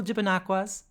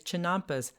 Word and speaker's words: chinampas: Google chipinaquas. How do you spell that? CHIPA, Chipen, NAQUAS. Hi, Futurely here. The word I was actually trying to say is chinampas, spelled CHINAMPAS.